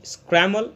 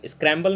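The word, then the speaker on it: scramble: स्क्रैमल, स्क्रैम्बल नहीं, स्क्रैमल, एम के बाद आने वाला बी को हम लोग नहीं प्रोनाउंस करते हैं।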